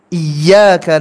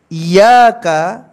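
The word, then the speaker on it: إِيَّاكَ: al-fatihah ayat ini berbunyi iyyaka na'budu wa iyyaka nasta'in yang menjadi perhatian kita adalah pada kata iyaka iyaka apabila diucapkan dengan tasdid iyaka na'budu wa iyyaka nasta'in maka artinya adalah tauhid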